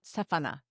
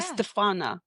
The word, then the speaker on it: Estefana: It's where the accent goes. Yes. What's I so funny is I actually don't know because my mom would call me, and in Mexico you're supposed to put an accent so where the ana goes, but because there's no accent, you're supposed to phonetically, according to the rules, the grammar rules, it would be yeah. Estefana.